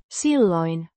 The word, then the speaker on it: silloin: adverb of Time pronounced silloin with the stress on the first syllable hän means he or